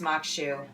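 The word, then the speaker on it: maque choux: mokshu, And it's pronounced Makshu. I want to pronounce things correctly for people. Looking at it, like a lot of Creole things, you might not want to pronounce it like that.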